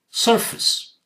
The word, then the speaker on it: surface: Surface, sir, sounds fine, but this is not face. This is fis. A took the sound of I.